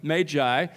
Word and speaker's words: Magi: beginning say to you that I'm going to pronounce it that way throughout the sermon Magi because as I learned a few years ago